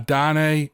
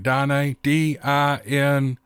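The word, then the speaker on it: Diné: I had been invited by a Dine Navajo friend, I think I pronounced that right, Dine, D-I-N-E, with the little slash over the E, Dine, Navajo friend to experience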